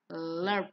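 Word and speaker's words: larb: Lerp ya, bacanya lerp.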